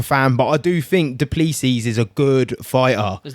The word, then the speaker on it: Du Plessis: Massive Robert Whittaker fan, but I do think Duplessis is a good fighter. Is that how you say it, Duplessis?